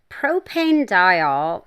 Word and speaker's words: propanediol: Propanediol, or propanediol, I've heard it pronounced both ways, so who knows, is a humectant without the stickiness of glycerin.